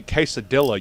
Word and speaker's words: quesadilla: When you say quesadilla, you got to really push the, the southern. Emphasize the dilla. Yeah, you got to emphasize the syllables.